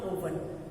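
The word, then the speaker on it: oven: इसको ओवन नहीं बोलते, आपने सुना होगा कई लोग ओवन बोलते हैं, बट इट is called ओवन, नॉट ओवन, ठीक है। ओवन, ओवंस, ओवन, ओवंस, ओ का साउंड यहाँ अ है, ओवंस।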